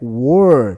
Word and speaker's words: were: No pronome interrogativo eu digo where. Essa pronúncia é where. Mas o outro é were.